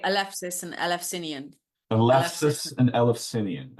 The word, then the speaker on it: Elefsis: And by the way, Maria pronounces it Elef, not Elus, Elef, right? Elefsinian, or perhaps you could correct my, is I say Elefsis and Elefsinian.